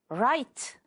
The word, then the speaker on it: write: Write. The W is silent.